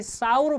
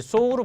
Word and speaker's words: sow: 얘가 발음이 싸우로 발음되면은 암태지입니다. 무슨 말을 하고 싶은 거죠? 동음이어가 아니지. 동철이음이어입니다. 무슨 말일까요? 동철이음이어니까 헤테러님입니다. 헤테러님이 뭐냐면 동철, 철자는 같은데 이음, 발음이 다르고 뜻이 달라. 이걸 헤테러님이라 합니다. 헤테러님. 헤테러님이라 하는데요. 이 발음을 소우로 발음되면 씨를 뿌리다야. 근데 싸우로 발음되면 암태지입니다. 이런 거죠.